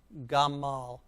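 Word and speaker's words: גמל: syllable all right so let's read it together as a word gaa mal gamal gamal gamal and that's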